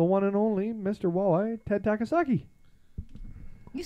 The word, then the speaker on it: Ted Takasaki: Walleye, Ted Takasaki.